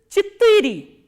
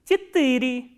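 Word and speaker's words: четыре: For 4, we use a little different word which is chittiri, ch, ye, ta, I, ra, ye, and stress is on I. Chittiri.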